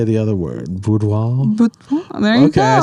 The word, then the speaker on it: boudoir: Boudoir.